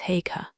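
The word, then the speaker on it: Haigha: His name is Hagar. He pronounced it so as to rhyme with mayor.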